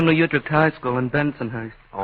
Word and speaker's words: Bensonhurst: Bentonhurst. Now you go Bensonhurst. Benton. You're a middle syllable man from the word go, aren't you?